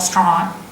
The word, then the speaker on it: Strine: You've got to say it through your nose like that. Let's Talk Strine. Now, when you say it like that, what does it sound like? Let's Talk Strine. Let's Talk Australian. Right? Let's Talk Strine. Strine, right? That's Australian.